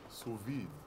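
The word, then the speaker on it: sous vide: Suvid. I think chef and you don't know this answer then. pronounce it suvi.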